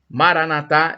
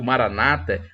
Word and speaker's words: Maranata: E no dia que Jesus voltar, Maranatá é vinde, Senhor Jesus, ou Maranata, como dizem os protestantes. A pronúncia não importa, importa o significado.